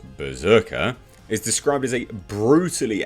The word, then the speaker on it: BRZRKR: covers by raphael grandpa berserker pronounced berserker is described as a